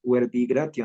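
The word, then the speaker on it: verbi gratia: Maestra, gratia se pronunciaría huerbigratia, ¿no? Huerbigratia. En nuestra pronunciación restituta, reconstruida o la clásica que hacemos. Pero si tú dices huerbigratia, a lo mejor no te suena al latinismo que conocemos tradicionalmente.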